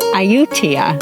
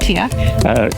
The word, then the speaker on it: Ayutthaya: We are at Ayutthaya. It is Ayutthaya. I've been practicing. Ayutthaya. If we've got the pronunciation wrong, please forgive us, and maybe you can correct us phonetically in the comments.